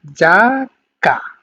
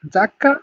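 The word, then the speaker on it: giacca: ওকে, তারপর দেখেন জি ই আ, তার মানে উচ্চারণটা হবে যা, হ্যাঁ, জি ই আ যদি একসাথে থাকে তাহলে উচ্চারণ হবে যা এর মতো, মানে জাকা, জাকা মানে জ্যাকেট, হ্যাঁ, জাকা, জ্যাকেট।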